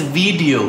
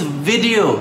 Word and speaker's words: video: I hear people pronouncing and spelling it as video. It's video. Think of the pronunciation as V-I-D, vid, followed by E-O, where vid rhymes with did.